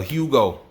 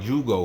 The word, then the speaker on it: Jugo: i never gonna forget her hugo i used to call it jugo because it's spelled j-u-g-o so i thought it was